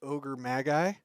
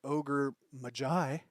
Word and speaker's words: Ogre Magi: how to say it I thought it was ogre Magi that is not correct it is the ogre Mai because I don't know